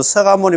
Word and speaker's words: 석가모니: 자, 서가문이 불로 되 있는데 1 발음은 서가문이라고 하고 추근할 죽은 끝때는 나무 서가모니 불이라고 불러 우리의 본사를 찾습니다. 그런 글자는 석가모니 이렇게 석가모니 불 석가모니 불이 돼 있지만 우리가